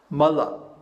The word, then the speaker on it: mala: know for example um Mala Mala is two short padas and it means a